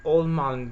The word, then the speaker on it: Ohlmann: of the original Charmander called the almond B and German pronunciation of course against a very familiar